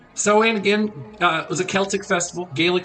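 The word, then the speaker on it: Samhain: what are the origins of Halloween or uh saen which is how it's pronounced it's spelled s m ha a i n soan again uh was a Celtic Festival Gaelic Festival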